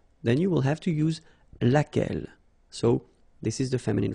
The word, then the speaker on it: laquelle: So basically same rule, Q-U, U is not pronounced here. And then you get this E-double-L-E, well, phonetically here, it is the same as what we have here. So laquelle. So the only difference between